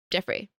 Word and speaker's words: Joffrey: Yeah, his name is Jeffrey. Joffrey? Yeah. Jeffrey. I think I like Jeffrey better. But it's spelled Joffrey. Joffrey. It's spelled with a G. Geof. Joffrey. But yeah, this is Jeffrey the squirrel.